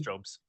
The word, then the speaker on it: Jobes: was done by Karen Jobes, Oh, yeah. Jobes. So I don't know Yep. if I'm pronouncing it right. I think you are. It's Job's.